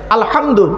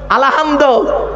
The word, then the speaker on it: আলহামদু: তাইতো আলহামদুলিল্লাহ আলামিন আলহামদু গলার ভেতর থেকে হেটা উচ্চারণ করবেন আলহামদু এর মানে হচ্ছে সমস্ত প্রশংসা আল্লাহ তোমার আর আমরা কি বলি আলহামদু এর মানে শুনবেন সমস্ত